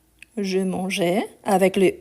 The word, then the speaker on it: mangeais: le il au pluriel, on va garder la marque du E justement pour avoir la prononciation. Donc on dit Je mangeais. Je mangeais avec le E ici qui vient du présent.